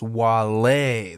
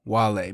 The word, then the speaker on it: Wale: It's Wale. There's an accent on the E.